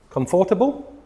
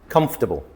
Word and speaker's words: comfortable: And these are words that are often pronounced incorrectly, but there's a vowel in the middle that is not pronounced. So what is this word here? Comfortable? No. Comfortable. Comfortable.